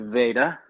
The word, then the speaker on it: Vajda: name is Veda Vedas Hungarian the J is silent okay uh and first